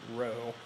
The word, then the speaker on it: rho: remember that's the symbol row it occurs to me that I should probably spell that out for you that symbol is row and that's spelled rho and again that's just